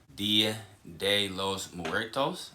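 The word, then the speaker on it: Día de los Muertos: Dia de los Muertos, I believe it's pronounced.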